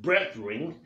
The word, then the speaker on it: brethren: and we urge you brethren brethren brothering or brother he we urge you it's pronounced breath ring we he urge you